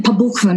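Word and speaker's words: по буквам: And the literal translation, pabukvam is how you say it in Russia, word for word, pabukvam is she returned.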